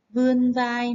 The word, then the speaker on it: vươn vai: Lưu ý khi đọc từ vươn vai, các bạn nhớ phát âm đúng âm vờ và vần ươn nhé.